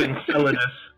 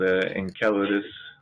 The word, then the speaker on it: Enceladus: If it was the original Latin, it's Enc, because there's no soft C in Latin, but Enceladus.